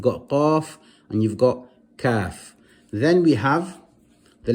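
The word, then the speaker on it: ك: The kaf is pronounced also from the back of the tongue, but not as far back as the qaf, a little to the front of the mouth when touching the palate.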